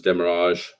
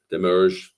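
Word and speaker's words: demurrage: yeah um waiting times demerrage demerish different ways to pronounce that you know and the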